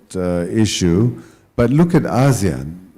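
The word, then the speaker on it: ASEAN: I first started studying Azan 30 odd years ago in Australia whenever I mentioned Azan people would think I mispronounced Asian right no one really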